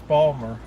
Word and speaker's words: Baltimore: governor the governor Richie Highway instead of Baltimore's Balmer yeah it's okay there's parts of it are